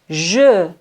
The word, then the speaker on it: je: d'habitude écoutez attentivement et répétez à haute voix je je tu tu il elle elle nous nous elle on ne prononce pas le S plus réel et maintenant